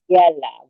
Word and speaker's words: Magdiela: How you pronounce it? Is it Magdiela? Magdiela. So it's Magdiela with the yeah, Ella.